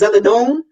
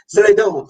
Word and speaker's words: Zeledon: Yeah, it's technically the pronunciation of my last name is Zeledon. My husband's family is from Nicaragua, so it's the correct pronunciation of my entire name would be like Zeledon.